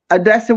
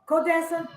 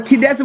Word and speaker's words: Kadessa: media and um odess Odessa will make sure to get yours cute pronounce your name for me codessa codessa okay I was pronouncing it like my relatives names but kadessa we're gonna make sure